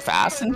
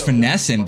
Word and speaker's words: Finessin: Is it Fassin? No, it's Finessin, bro.